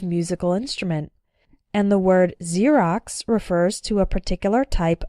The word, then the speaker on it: Xerox: ex-husband or ex wife when X starts a word then it's pronounced like Z there are very few of these words in English but a couple of them are xenophobia xylophone and Xerox xenophobia means fear of